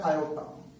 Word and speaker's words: iota: ठीक है, इसका प्रोनाउंसिएशन होता है आयोटा।